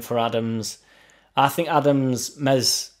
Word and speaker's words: Meslier: I think Adams, Mez, Silent S are going to be looking for a move.